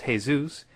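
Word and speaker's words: Jesús: of French ur and in Spanish its hey-zeus in Arabic its Issa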